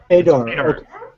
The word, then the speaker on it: Padar: Is it Padar? Padar? Padar. Padar. Okay. Like dirt.